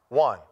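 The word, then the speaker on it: Juan: they call me who one j-u-a-n the name one is the same as in spanish it's one spell different pronounced different in english it is so what they do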